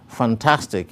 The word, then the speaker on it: fantastic: When we break the word fantastic into its various syllables, we have three syllables, fan, tas, tick. The primary stress is placed behind and on top of the syllable tas, as it is the syllable with the greatest emphasis or prominence thus.